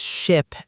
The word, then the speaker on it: ship: Many students confuse ship and sheep. Ship, sheep. Yes, ship has a short I sound and sheep has a long E sound. You have to hold the E longer.